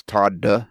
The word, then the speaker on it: Todd: The second D is silent.